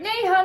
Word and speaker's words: Neha: them you know raised their hand is like Neha Neha and asked me a question and I